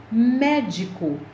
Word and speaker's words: médico: sílaba tônica é tec médico a sílaba tônica é mé lâmpada a sílaba tônica